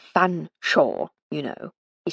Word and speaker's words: Fanshawe: One day I shall get you to say Fanshawe, you know, he said with a chuckle.